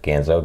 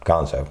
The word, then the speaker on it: Ganzo: have the Ganzo logo I'm probably pronouncing that right Ganzo ganza not Gonzo definitely not Gonzo from the Muppets although Maybe nothing is